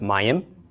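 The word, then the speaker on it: מים: then a final mem first we pronounce the mem the short a the BOP talked the why of the ode short I of the carrick finally the M of the final mem and we're left with my m and my M means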